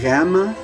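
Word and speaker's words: γάμμα: of your soft palate so gamma it's where you say the gu it's in the very same place where you say the gut but now you're going instead of making a stop release you're going to hold your tongue there and continue that sound vibrating the the m sound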